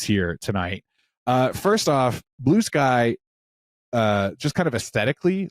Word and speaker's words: Bluesky: I didn't even realize I was saying it wrong until she looked at me funny and I said oh it's blue sky and she goes yeah